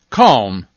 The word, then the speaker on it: calm: and don't forget could should would then there's calm balm palm almond salmon calf half salve colonel